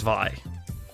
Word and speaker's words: Vi: The bee's name is Vi, and it is pronounced Vi because it's short for Violet.